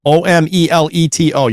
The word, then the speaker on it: Omeleto: Thing made from eggs? Not an omelet. That's how it's spelled. Omelet. No, Omeleto.